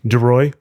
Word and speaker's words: Duroy: how do you pronounce your last name? Duroy. Uroy. Duroy. Yep. That's easy to pronounce. In my mind, I was like confused by it. Not anymore. Duroy.